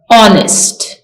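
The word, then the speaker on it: honest: इज एन ऑनेस्ट मैन ऑनेस्ट का H silent है ऑनेस्ट नेक्स्ट डोंट talk in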